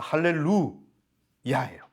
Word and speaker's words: 할렐루야: 되겠구나 분명히 깨달으실 거예요 할렐루야예요 루가 장모음 이고요 뛰어쓰기 되어 있습니다 할렐루아 이야가 뛰어쓰기 되 있습니다 이해 되셨죠 그래서 할렐루 야해요 그래서 할렐루 찬양하라고 목적으로서